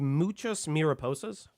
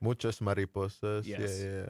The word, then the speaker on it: muchas mariposas: um what it's called muchas mirap Posas correct muchas mariposas much better pronunciation than I haven't spoken